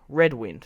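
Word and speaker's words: Redwyne: of the audiobooks, but it's pronounced red wine.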